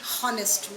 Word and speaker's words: honest: Then similarly, an honest man. We do not say honest man. H is silent.